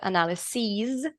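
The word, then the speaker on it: analyses: when there's e-s-s-e-s and the pronunciation is long e and instead of there's the analyzes then it's plural sorry one analysis two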